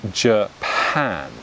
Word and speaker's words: Japan: a similar stress yeah like if i say the word for example japan right the country japan the first syllable has a similar stress to the second little japan right it's the same sound pronounced consecutively whereas british people would say japan right so notice how i've unstressed the first syllable and i stress the second syllable so japan becomes japan